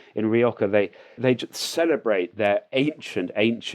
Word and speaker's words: Rioja: It's actually sort of halfway between an H and a K, really. Okay, yeah. Well, I want to say it like the cool kids do. And we say O. It's a long O rather than an O.